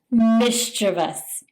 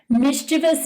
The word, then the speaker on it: mischievous: Mischievous. Mischievous means to be playfully annoying or causing minor trouble or doing harmless pranks. Mischievous. Many people mispronounce this by putting the emphasis on the wrong syllable, by saying mischievous.